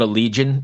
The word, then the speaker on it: Allegaeon: me with this name I always call it a legion is that that's correct yeah it is okay yeah there's a